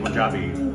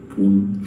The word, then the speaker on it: Punjab: And I think they're big Punjabi fans of the Korean team. I was speaking in Punjabi and it's Punjab, not Poon. Punjab. Pronounced like Punjab.